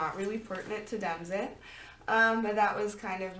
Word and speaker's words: DemExit: Pronounce it like Brexit. It is DemExit, not DemExit. So like DMXT.